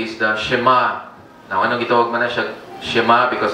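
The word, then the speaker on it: שמע: this is what many would say is the shema anwag na si shema because of the first word ng here in the Hebrew it's shima ang pronunciation so here Israel the Lord our God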